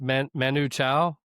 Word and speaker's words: Manu Chao: Uh, then I have Lou Reed, Transformer, up against, and I guess it's pronounced Manu Chao.